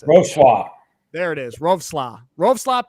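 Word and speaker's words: Wrocław: Roarclaw. Roarclaw. Coach, how do you pronounce it? How do you How do you pronounce it? Rosla.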